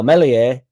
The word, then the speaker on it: Meslier: So obviously the elephant in the room is Meslier Silent S.